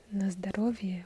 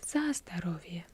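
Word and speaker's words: за здоровье: glass on me anyways you would not say nastarovia you would say zastarovia so let's drink for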